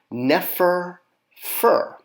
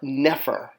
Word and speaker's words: nefer: all of these together it's going to be pronounced Neer fur or nefer which means good a